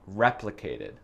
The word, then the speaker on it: replicated: Donc, le deuxième syllabe, c'est l'accent tonique, success. Et le premier syllabe, je crois, dans replicated. Ouais, replicated. C'est pas replicated, c'est pas success.